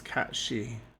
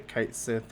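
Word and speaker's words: Cait Sith: and uh I think the correct way I believe to pronounce it is Kat shei which a lot of people say Kat Sith or cat Sith but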